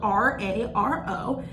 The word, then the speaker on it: raro: It's spelled R-A-R-O, and it's pronounced raro.